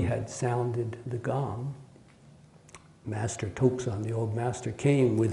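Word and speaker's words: 徳山: And it's a master who's pronounced his name in Japanese is pronounced Tokusan. Tokusan.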